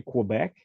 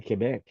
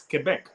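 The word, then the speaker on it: Québec: been to lovely city and uh you you pronounced it right because normally people that speak English say Quebec but it's really Quebec it's K you PR it good because I'm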